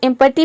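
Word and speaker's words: empty: देखिए यहां पे है एम पटी तो एम पटी में जो है ई को हम ए प्रोनाउंस करते हैं यहां पे ई का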